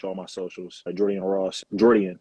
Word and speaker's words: Jordian: Jordian is how you say my first name for people who don't know.